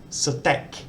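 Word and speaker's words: สเต๊ก: This word actually reads stek, satek. If they want steak, they just need to remove this symbol, but for some reason they always spell it this way.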